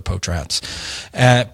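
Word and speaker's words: Potratz: or just search for Potrats, which is spelled like pot rats with a Z.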